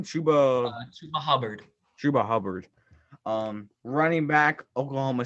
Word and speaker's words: Chuba Hubbard: Chuba Hubbard.